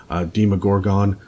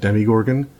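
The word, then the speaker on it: Demogorgon: my favorite guy ever deema Gorgon some of you will pronounce it Demi Gorgon but that is that's a stranger sting pronunciation he is that the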